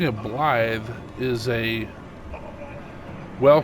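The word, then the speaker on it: Blaidd: is spelled BL l a i DD and pronouncing it blly is a wel pronunciation of d d and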